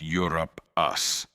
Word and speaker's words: Europaeus: Etymology of the name comes from Europe, and it is pronounced as Europe us.